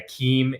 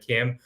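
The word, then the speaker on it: CIEM: so many different ways with the hard seed with the Soft C uh including the IE uh pronouncing it as a Keem instead of Kim in fact I didn't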